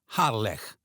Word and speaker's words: Harlech: Try saying Harlech.